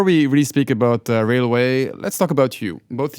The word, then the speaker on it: RAILwAI: mufa je co-founder of Railway or perhaps I should pronounce it rail AI because that's how it's spelled in any case in